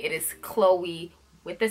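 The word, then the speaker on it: Chloé: or Khloe Kardashian with the K it is Chloe with the C with an accent over the e so it's Chloe so yeah that is number one the second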